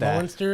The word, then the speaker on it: Muenster: that that's first E is pretty much More silent.